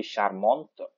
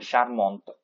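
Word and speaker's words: charmante: feminine form will be sharmont okay we pronounce till the t and sharmont again okay for the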